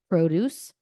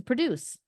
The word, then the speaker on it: produce: this in English too with produce versus produce progress versus progress address versus address one of the all of the ones that have emphasis on the first syllable produce address progress are nouns I'm making progress let me